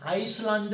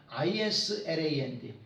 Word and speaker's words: Island: 같아요 그 다음에 아 이런들한 철자는 s가 발음이 안 됩니다 아이슬란드 하면 안 됩니다 그때 아이슬란드는 얼음의 땅이에요 icland 그게 아니라 Island Island 이스터섬에 동상들 스태츄에다 s를